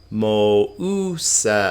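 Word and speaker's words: Μωϋσέως: Mouseos, we talked about this. Remember what that's called? Diaresis. It's that strange accent that means give this thing its own syllable. Mouseos.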